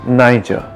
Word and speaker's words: Niger: poem niger is pronounced niger and the soft g in niger makes you want to